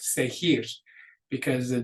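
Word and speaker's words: seguir: are soft sound so because we want this to be pronounced with that hard G sound there's a u in there which forces that g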